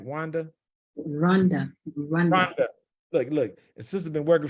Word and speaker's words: Rwanda: Rwanda.